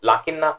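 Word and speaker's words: لَكِنَّ: It's pronounced lakinna because of the circle mark that you can see at the top of alif.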